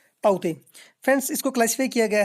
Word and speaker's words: Tauktae: ठीक फ्रेंड्स, आपको स्पेलिंग में यहाँ पर देखने को मिलेंगे अजीब से, लेकिन इसकी प्रोनाउंसिएशन जो राइट होगी होगी साइक्लोन ताउते।